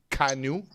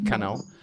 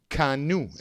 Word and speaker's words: canoe: sit in it and you row it right kanu not Kano kanu is how it's pronounced I think that's a Native American word